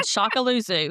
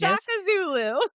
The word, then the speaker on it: Shaka Zulu: Ruth and Shakaluzu. I think that's what it is. Shakazulu. Oh, totally messed that up.